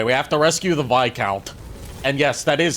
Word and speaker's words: Viscount: Anyway, we have to rescue the VIC count. And yes, that is how you pronounce it. It's not viscount.